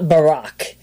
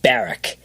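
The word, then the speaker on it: Barrack: Thomas J barck Jr it's not Barack even though it's spelled b a r r a c k it's baric it's baric it's only Barack if there's one R and then of course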